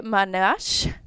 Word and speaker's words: Manosh: But we have our client here, Kyleigh Manosh. Got it. Did I get it? That's it. Manosh? You nailed it.